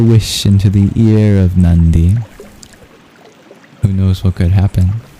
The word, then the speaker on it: Nandi: the divine named Nandi. Ironically, Nandi is just regular Ns. You don't curl your tongue back in its pronunciation but it's still uh nasal that sounds similar.